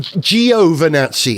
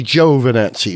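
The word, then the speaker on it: Giovanni: I think he did he kept saying Gio Vani as opposed to Joe Vani which is the correct one and luck Deval I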